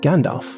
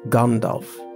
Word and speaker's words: Gandalf: the whims of language most people say Gandalf for example not Gandalf which would be the accurate one and that's fine a